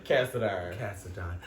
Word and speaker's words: Cassadine: Cassadine.